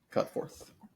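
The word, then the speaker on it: Cutforth: Is it cut forth? Is that how you pronounce his last this guy's last name? Yes. Cut forth.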